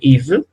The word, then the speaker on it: Yves: Entonces aquí, por ejemplo, tenemos un nombre, Yves, ¿no?